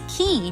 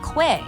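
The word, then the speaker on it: quay: And every time I see the letters qu u a y, I have to remind myself that it's key, not qu.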